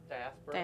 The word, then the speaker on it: Diaspora: How do you pronounce it again? Diaspora.